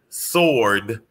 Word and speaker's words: sword: everybody to know that the w in sword is silent also okay and i was